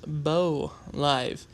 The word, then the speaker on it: Bo Live: It is actually pronounced Bo Live. So in the first video I had of this person, it was not correct.